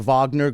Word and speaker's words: Wagner: in the the the Vagner group it's pronounced Vagner okay don't like come on man um Wagner um that to me